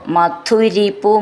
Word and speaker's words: മധുരിപു: ഐക്ഷ സ്വയം ചേർത്ത് ചൊല്ലുമ്പോൾ മധുരിപു ഐക്ഷഥാ സ്വയം മധുരിപു മധു എന്നുള്ളത് ധു എന്നുള്ളത് നന്നായിട്ട് ഉറപ്പിച്ചു പറയണം ഐക്ഷ എന്നുള്ളതിന്റെ ക്ഷ എന്ന്